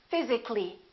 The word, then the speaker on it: physically: Physically, not physically.